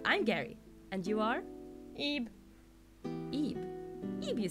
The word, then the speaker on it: Ib: Ebe. Ebe? Ebe, you say? Yep. Spelled with B.